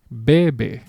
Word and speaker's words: bebe: There is no accent mark. Therefore, the natural pronunciation of this word is bebe.